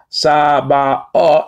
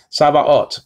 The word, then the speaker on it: Sabaoth: looks like a T, do not pronounce it as a T. That's just a guarantee. You're looking at either an O class or an A class, mostly an A class. Sabaoth.